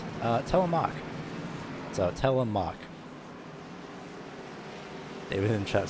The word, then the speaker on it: Telemark: I've just gotten the pronunciation. It's Telemark. So, Telemark.